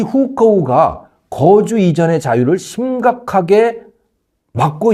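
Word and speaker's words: 户口: 그게 바로 후커우 제도라고 하는 건데, 우리 발음으로 읽으면 호구예요. 우리 호적 제도 이렇게 보시면 되는 겁니다. 호적 등본, 호적 초본, 옛날 그런 게 있었잖아요. 지금은 가족관계부 뭐 이렇게 되어 있지만, 그 호적, 그게 호구, 중국 발음으로는 후커우라고 해요.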